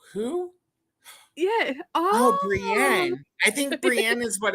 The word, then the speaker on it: Brienne: with yeah Brienne right it sounds like Brienne Brianna but it's it's Brienne but they called her it was something completely